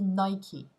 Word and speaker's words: Nike: Donc par exemple, là, pour la marque Nike, eh bien, il se trouve qu'en anglais, ça se dit Nike.